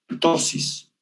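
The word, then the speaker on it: ptosis: Algunos pueden llegarle a producir caída del párpado que se llama tosis, y tosis se escribe primero con P, tosis, lagrimeo y algunos fotofobia.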